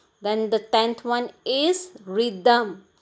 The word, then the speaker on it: rhythm: the tenth one is rhythm here the sound of h the sound of h which comes after r is silent then eleventh one is